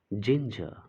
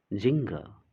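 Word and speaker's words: ginger: This is जिंजर, जिंजर. Okay, it इज नॉट जिंगर.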